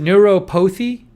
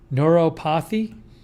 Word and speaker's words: neuropathy: interesting did i say is it neuropothy did i pronounce it wrong neuropathy it says neuropathy neuropathy that was from